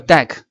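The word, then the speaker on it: deque: 下面呢，我们再来介绍一下 deck，读作 deck，它是一种优化了顺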